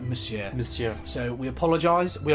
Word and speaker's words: Monsieur: we have been saying Monsieur for everything because that's how it's spelled. Monsieur? You actually don't pronounce the N, it's like Monsieur.